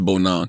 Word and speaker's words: Bonang: Remember when I was shouting out, I was pronouncing her name wrong because I was saying Bonang, but it's Bonang.